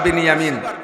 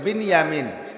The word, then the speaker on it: বিনিয়ামিন: ইউসুফ আর বিনিয়ামিন, বনিয়ামিন না, একটু উচ্চারণ শেখেন, বিনিয়ামিন শব্দটা কি গন্ত? বিনিয়ামিন। আর বনিয়ামিন কেউ নাম রাখলে বনিয়ামিন বললাম, বিনিয়ামিন।